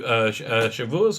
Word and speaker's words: Shavuot: So, we're doing a way a day during this period from Passover to Shavuos or Shavuot, depending how you pronounce it, which is which